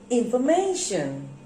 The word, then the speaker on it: information: you put the stress where do you put the stress yes you're right mention you put the stress here in formation okay and this stress